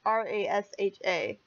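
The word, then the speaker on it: Rasha: village named Russia yeah it sounds a lot like Russia sorry about that ra sha that's how it's spelled but basically she came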